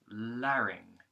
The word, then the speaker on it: larynx: You've got larynx, which begins with a light L going into an A vowel, then another R consonant going into a short I vowel, like in the word kit or in, and then the NG consonant using the back of the tongue, so like in the word song or sing, right?